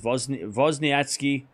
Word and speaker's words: Wozniacki: By the way, if I call it her Wozniacki, it's going to be... It's not going to work. That's how you pronounce it. It's Wozniacki. But I can't say that properly without biting my tongue off. So I'm sorry if you can't listen to hearing Wozniacki. But Wozniacki is as good.